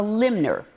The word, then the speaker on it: limner: Now, why do we call them a limner? Someone who limbs, and the word is spelled L-I-M-N, it draws paintings.